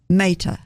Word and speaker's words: Mehta: Mehta.